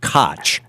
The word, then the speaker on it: Koch: others uh titled the coke club and Koke has spelled uh you know the old mayor of New York used to pronounce it kotch K C and um